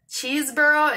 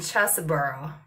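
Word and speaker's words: Chesebrough: as well old uh pronounced both ways cheeseborough and chesaboro new york that's how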